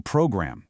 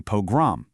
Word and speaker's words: pogrom: This historical crisis wasn't a program, it was a pogrom.